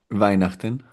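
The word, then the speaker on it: Weihnachten: Y en alemán que se pronuncia, ¿cómo se pronuncia? Vainachten.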